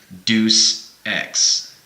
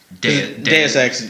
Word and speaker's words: Deus Ex: they were asking for Deuce X. Yeah. Deus Ex is Latin. Yeah, it's how it's pronounced and that's how it's presented to us. But people read it phonetically and they think it's Deuce.